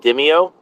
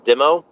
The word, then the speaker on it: DIMO: Um, one of the fun DeFi projects that I'm part of is called I pronounce it Dimeo or Dimo, DIMO.